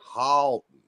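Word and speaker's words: Haughton: if you're from there, it's Halton. It's Halton.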